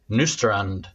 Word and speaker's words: Nystrand: joining us today from gothenburg please welcome nustrand i pronounced your name okay this time you pronounce